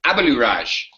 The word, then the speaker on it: Abaluraj: Because it's weird how it's spelled, right? It's Abaluraj. That's it. It's easy, right?